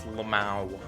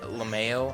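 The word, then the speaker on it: LMAO: So I heard someone pronounce it Lameo, and I'm like, what is wrong with you? It's Lamau, not Lameo. Who says Lameo? Next they're gonna say they pronounce it mayonnaise, you know? Because the point I'm trying to make here is that M-A-O says Mao. M-A-Y-O says Mayo. Oh, that was close.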